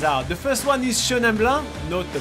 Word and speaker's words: Chenin Blanc: We are trying all sorts of different wine varietals from Chenin Blanc, Chardonnay, Gewürztraminer, Viognier and Syrah. And I apologize for my awful pronunciation.